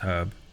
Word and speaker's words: herb: Pronounced herb. Herb because there's an H in it.